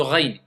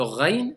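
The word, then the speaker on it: غين: Maintenant, le même endroit, je sais que c'est du même endroit que sort le rain, mais par contre, attention, je l'écrase un peu, ça me donne le kha. Tout le sens change. Faites attention. Le rain, c'est pas le kha.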